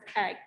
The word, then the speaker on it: EEG: my name is our project is eeg pronounced egg the elevator energy generator